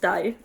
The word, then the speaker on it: dig: Yeah, and it's pronounced die.